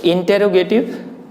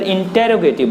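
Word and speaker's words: interrogative: तो इंटेरोगेटिव, INTERROGATIV, इसी को कुछ लोग इंट्रोगेटिव बोलते हैं और कहीं कहीं पर इंटेरोगेटिव बोलते हैं, तो ये प्रोनाउंसिएशन भी थोड़ा सा मायने रखता है। तो इसे इंटेरोगेटिव ही बोलते हैं।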